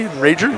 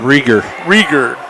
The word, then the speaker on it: Rager: Did I pronounce it correctly? Rager? Rieger.